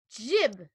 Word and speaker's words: Jib: my name is jib you know like I like the cut of your jib that's a thing they